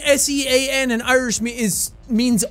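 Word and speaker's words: Seán: father over it okay it's an irish name and it's spelled like this s-e-a father n that's what the thing over the a is that's what turns it into sean it extends the vowel everyone keeps sending me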